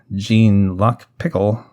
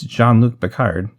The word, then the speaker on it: Jean-Luc Picard: about that show and people started calling jean-luc picard jean luck pickle i'd probably stop the actress and say no it's jean-luc picard everyone's favorite captain so